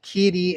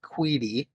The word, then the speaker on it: Qidi: I have a, it's spelled Qidi. I've heard it pronounced Keedy and I've heard it pronounced Queedy. I find myself using both pronunciations depending on the day.